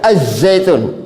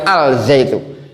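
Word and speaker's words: الزَّيْتُون: Azzaitun. Nah. Azzaitun. Zaituna ya. Zaitun. Zaitun ya. zaitunu ya zaitun zaitun. Nah za azzaitun bukan alzaitu.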